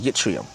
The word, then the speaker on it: yttrium: That's actually how you say it, yttrium or ytterbium.